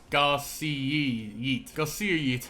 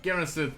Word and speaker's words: Garcia: Also, I'm saying it wrong the entire time. It's Garcia, but Garrison just sounds better, so I'm calling him Garrison.